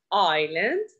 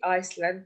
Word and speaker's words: island: Here we have silent S. Island, island, ma bahki Iceland, it's wrong.